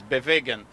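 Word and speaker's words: Bewegen: Even us, we call it Bewigan, but the real pronunciation in German is Bewigan.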